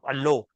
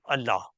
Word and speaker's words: Allah: be pronounced as Allah because it's a borrowed word and that is how it's pronounced in uh that language so somebody in English